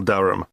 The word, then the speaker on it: Durham: How do you spell Durham? Durham. Of course, I should know that. But it's just one of those names that sounds quite different from the way you spell it.